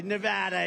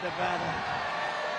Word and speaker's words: Nevada: And you always have to say it correctly. Nevada. You got to call it Nevada.